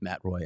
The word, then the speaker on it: Matt Roy: the second pair with Matt Roy. I always want to say Matt Roy. I know. I want to go to the French pronunciation, even though he's American.